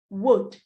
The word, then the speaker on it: would: The other word is pronounced would. It's the same as W-O-O-D. Therefore, both words are homophones.